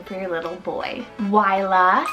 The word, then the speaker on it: Wyla: Wyla, spelled W-Y-L-A, Wyla.